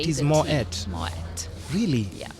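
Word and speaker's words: Moët: Is it Moet? So it is Moet, M-O-E-T. You say it is the Moet.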